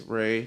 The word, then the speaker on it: Rey: So when you spell it, there's a R-E-Y in the middle of it. So I'm just like, okay, that makes Ray.